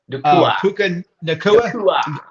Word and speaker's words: Puka Nacua: The young receiver, Ron, that young receiver, Puka, I'm saying his name wrong. Puka Nacua.